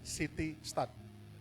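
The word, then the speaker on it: C. T. Studd: Next, yang terakhir, Bapak Ibu Saudara, saya akan tutup dengan satu kata-kata dari seorang hamba Tuhan, namanya City Stud, CT Stud, jadi bacanya City Stud.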